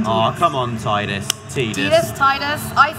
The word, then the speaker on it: Tidus: Tidus. I say Tidus, but people yell at me on YouTube. Well, Wacker pronounced it Tidus in Kingdom Hearts, so I guess that has to be the official pronunciation.